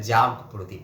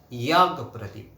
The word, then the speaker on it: যজ্ঞ প্রদীপ: এটা কিন্তু আসলে আমিও আগে ভাবতাম যে এটা বোধহয় জাগ প্রদীপ। আসলে আমাদের বাংলায় এই যে দুটো জয় উচ্চারণ করার পদ্ধতিটা এমনই যে সেখানে আমরা এই জয় উচ্চারণ করি মূলত, কিন্তু এটা অ্যাকচুয়ালি ইয়াগ প্রদীপ, অর্থাৎ যজ্ঞ প্রদীপ, ইয়াগ যজ্ঞ, এই যে যজ্ঞ